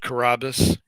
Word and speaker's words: Carrabis: the land itself um I pronounce it Carrabba's but you know I'm